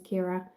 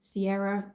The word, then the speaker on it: Kira: Um, they'd either call me, so my name pronunciation is Kira, but in the UK, people would either call me Sierra, Kyra, um, there was another,